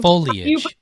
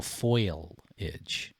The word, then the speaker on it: foliage: trying to mimic you no it's foliage it's fall foliage no but it's not foliage it's this is very important you're now a new englander now you got me saying it wrong foliage foliage yeah that's right what how do people in new england say well some people say it wrong as go foil itch like a little foil oh it's like those